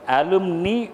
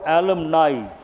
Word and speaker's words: alumni: Old student of a school or a college, and you can pronounce it as alumni or alumni. Either way it is correct.